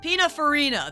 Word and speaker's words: Pininfarina: Pininfarina.